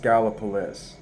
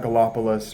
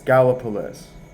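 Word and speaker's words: Gallipolis: but gallopolis is pronounced gallopolis um yeah it's not galopus or anything like that it's gallopolis because it's Ohio that's how we talk at 300 p.m.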